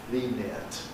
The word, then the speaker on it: lenient: Well, it's certainly true that it can sound identical to the ear of near. Lenient, well, very difficult to hear the difference.